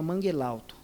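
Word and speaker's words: Mangel Halto: a uma região que se chama manguerauto é que se escreve manguel alto né É muito legal depois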